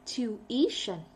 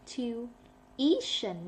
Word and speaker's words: tuition: Tuition. Okay. Tuition. Not tuition. Tuition.